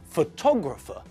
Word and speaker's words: photographer: falls on different syllables think about the word photograph rings there the stress is on the first syllable just like in Hungarian but when we look at the word for the person who took the photograph then the stress moves our photographer took a